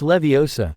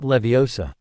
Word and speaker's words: Leviosa: you're saying it wrong it's Leviosa not Leviosa oh keni said up